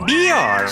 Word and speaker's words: Björk: El escritor y músico David Toop le ha prologado y ha hecho programas monográficos sobre su figura, y Björk, pronunciado Björk, sampleó sus grabaciones de pájaros de Venezuela en